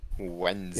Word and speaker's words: Wednesday: This is one of those English words where a bunch of the words don't actually come up, or a bunch of the letters don't come up. You don't pronounce most of that stuff.